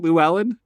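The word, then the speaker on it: Llewelyn: who plays a dude named la levelin lewis llewellyn lou island yeah yeah is that how you pronounce it lou ellen yep they say it multiple times in the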